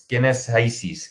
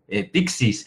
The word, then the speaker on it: PCYSYS: Y venga, ¿quién es SiSys? Que así se pronuncia, o así dicen ellos que se pronuncia. Lo hemos oído de diferentes formas y algunas muy divertidas. Ayer, en una presentación con un cliente, me dice uno: Pixis.